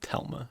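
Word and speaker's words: Thelma: It's the word is Theelma, but they pronounce it Telma in Norwegian.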